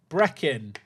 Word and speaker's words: Breckin: Breck like the first syllable of breakfast and in. Breckin.